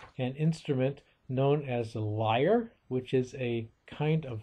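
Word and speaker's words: lyre: accompaniment of this harp this liar and that word is spelled l y r e and the word liar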